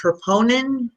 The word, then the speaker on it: troponin: maybe you can explain again to me the troponin.